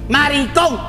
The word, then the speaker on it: maricón: Maricón. Con acento en la O.